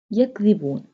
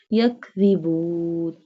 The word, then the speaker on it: يَكْذِبُونَ: يَكْذِبُونَ. This one the pronounced softly. This one the pronounced from the tip of the tongue touching the inner edges of the top two front teeth. يَكْذِبُونَ.